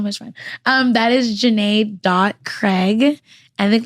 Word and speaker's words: Jana: a so looks like Janna but my name is Jana fun fact on Tik